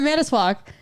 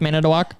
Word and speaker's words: Manitowoc: But now you're officially with Manitowoc? no. Why do you say it like that? Manitowoc. At least you didn't say Manitou because that's a totally different company.